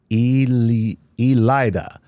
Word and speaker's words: Eliada: and my name is pronounced Eliada.